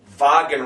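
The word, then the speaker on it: Wagen: mean it's V G vagen Rod so there again you got the W but it sounds like a V vagen Rod cro un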